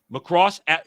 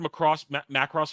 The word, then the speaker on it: Macross: Macross, diehard Macross fans, I should say it right. Macross, not Macross. Macross.